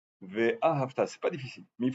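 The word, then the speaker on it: ואהבת: Ve'ahavta. Il faut mettre sur le sidour l'accent tonique sur le Ve'a et ensuite Havta. Sur le Ta, Ve'a et le Ta à la fin. Ve'ahavta, c'est pas difficile, mais il faut s'en rappeler.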